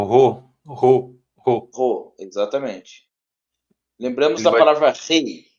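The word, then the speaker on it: ῥῶ: o outro é o ro ro exatamente lembramos da palavra rei rei rei né então ro ro é na na garganta né É É um R mais puxado né Rual é ro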